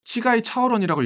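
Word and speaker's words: 乞丐超人: 거지 슈퍼맨은 한자를 걸개 초인 대만식 발음으로는 치가이 차오원이라고 읽습니다.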